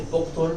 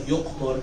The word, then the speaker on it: Yuqtur: Some sources they say Buqtur, but it seems like Yuqtur is the right pronunciation of his name.